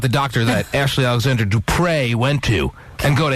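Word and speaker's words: Dupré: to this Ashley Alexandra Dupre, yes, that's how she pronounces her last name. There's an accent aigu over the last E because she's so French.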